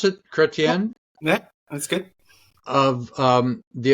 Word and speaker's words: Chretien: Is that how you pronounce it? Yeah, Chretien yeah, that's good.